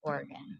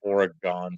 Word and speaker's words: Oregon: no like totally different so you pronounce Oregon I have always pronounced to Oregon is there a dispute over there how's pronounced Oregon I think it's like everyone in Oregon like home base is Oregon if everywhere else it's like no it's Oregon oh God that's just